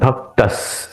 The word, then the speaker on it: भक्तः: इसलिए उसका द आएगा भक्तः यहां पे उच्चारण करते वक्त स का उच्चारण डबल करना है मतलब एक लेंदिंग वर्ड होगा मद भक्तस समे प्रिय यो मद